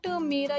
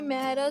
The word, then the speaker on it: मेरा: Because if you say not mera, you say mehra, so it's not good because mehra is a surname in India.